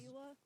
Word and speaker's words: Zila: Zila is, I think, like the official German pronunciation, which that's where her name is from origin, so I just call It's that. Like, you know, I just call her.